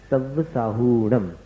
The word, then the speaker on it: सव्वसाहूणम: साहूणम में ह में जो ऊ है, हु, उसको दीर्घ बोलना, उसको शॉर्ट में नहीं बोलना, जल्दी नहीं बोलना। नमो लोए सव्वसाहूणम, ये इसका शुद्ध उच्चारण।